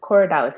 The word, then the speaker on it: Corydalis: Cory, so Corey, and then Dallas, Dalis, all one word. Okay. So Coridalis, it's a whole species of one herb, but they pretty much all have the same action.